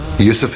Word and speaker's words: Yusuf: He said, can't you use the Arabic pronunciation? I said, yeah, why not? So, Yusuf Islam.